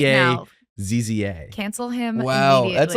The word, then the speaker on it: Favazza: Favazza.